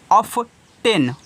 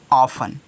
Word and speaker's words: often: अब जिसको नहीं मालूम है पढ़ेगा ऑफ्टेन, ऑफ्टेन नहीं, ऑफ्टेन नहीं है, क्योंकि TEN में टी क्या रहता है, साइलेंट। तो हो जाएगा ऑफन। क्या हो जाएगा, ऑफन हो जाएगा।